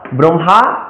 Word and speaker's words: ব্রহ্মা: এই জন্য মটা আগে আসলো, হটা পরে গেল, জন্য হলো ব্রহ্মা, ব্রাহ্মণ।